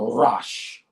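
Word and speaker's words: ראש: defer from this word but it's pronounced the rash rash servant rush or rest means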